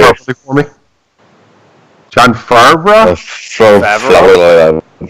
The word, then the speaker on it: Favreau: John Favreau? Favreau.